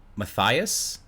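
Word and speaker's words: Mathijs: for midwest game director matthias is how you pronounce it m-a-t-h-i-j-s matthias de young the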